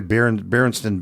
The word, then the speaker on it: Berenstain: Berenstain, how do you say Berenstain Bears? It's Berenstain. That is correct.